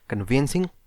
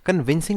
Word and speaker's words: conveyancing: है drafting, pleading and कन्वेंसिंग। इसके अंदर आज का हमारा नया टॉपिक रहेगा वो है कन्वेंसिंग का। कन्विंसिंग नहीं कह रहा हूँ मैं, कन्वेंसिंग।